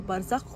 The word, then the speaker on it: Barzakh: I choreographed and co-directed the dance short film Bazarkh, pronounced as Barzakh, with my beautiful partner in crime, Kat Castro.